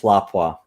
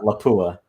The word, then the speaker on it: Lapua: just pronounced it 338th lapwas yes you did not call it 338th lapua and for those that are watching yes the correct pronunciation is lapwa not uh lapua the other one i